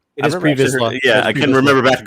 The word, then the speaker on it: Pre Vizsla: It is Pre Vizsla. Yeah, I couldn't remember back to Clone Wars how you pronounced it.